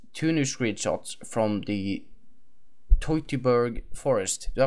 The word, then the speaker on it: Teutoburg: new screenshots from the Tober Forest do I pronounce that right F you did uh anybody who is a German speaker would be very happy with you it's uh not chuber but it's Tober so yeah that was